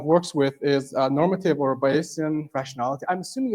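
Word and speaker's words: Bayesian: uh kind of works with is normative or baian rationality. I'm assuming it's baian. I've never looked up how it's pronounced but I want to believe that it is baian basian baian basian.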